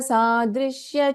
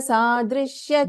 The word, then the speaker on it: सादृश्य: Only thing is, don't prolong this ya, okay? Anakalita sadrishya chibuka shri virajita. There is no dirgha after ya. There's no ya, it is ya.